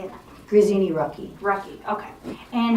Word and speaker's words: Grazzini-Rucki: Grazzini-Rucki.